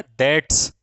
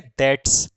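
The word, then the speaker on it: debts: इसको बोला जाता है डेट्स। इसमें ये जो बी है ये एकदम से म्यूट है। क्या है बेटे, म्यूट है। चाहो तो आप इसको साइलेंट बोल दो कि ये जो बी है ये कैसी है भैया, साइलेंट है, म्यूट है, ठीक है। तो इसको डेब्ड, डैब, डैब, डेब्ड्स नहीं बोलेंगे, इसको बोलेंगे दैट्स। क्या बोलेंगे भैया, दैट्स।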